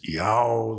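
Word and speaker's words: Ιαω: Iota, Alpha, Omega is yow, like the sound of a donkey braying.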